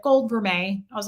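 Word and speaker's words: vermeil: stores years ago she was like it's actually pronounced veret and I was like no it isn't please tell me I'm it's verile and she was like no it's ver so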